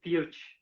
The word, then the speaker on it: Peart: exemplo, de um sucesso do livro de Neil Peart, do Rush. Você foi lá e bancou, e eu acho que é um dos que tem melhor saída na tua editora, né? É o Neil Peart, o Neil Peart, a Candice vai, se ela tiver aí, ela